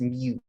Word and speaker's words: mu: x perfect uh so it's not u it's mu uh it's spelt m u it's a greek letter so for your